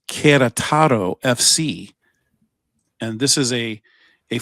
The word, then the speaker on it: Querétaro: It's Querétaro. I actually looked it up how to pronounce it, and I had to listen to it. It's like an emphasis on the second E. Querétaro.